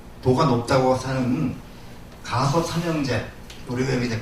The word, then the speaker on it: 가섭: 도시인데 여기에는 당시에 가장 그 존경받고 그 다음에 그 도가 높다고 사는 가섭 삼형제 우리가 여기 이제 가사파 삼형제라고 해요. 예, 가사파는 저 그 인도식 발음이고 우리는 저 가섭이라고 하는 말로다가 이렇게 하는데 이 가섭 삼형제가 1000명의 그